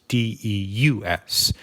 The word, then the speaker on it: Devs: referred to as Gabe's de us the V then being a Roman v which is pronounced like a u Deus of course means